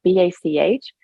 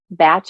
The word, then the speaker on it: Bach: uh Bach is spelled b-a-c-h so we in America say Bach flowers via the composer actually it's pronounced technically batch but for this show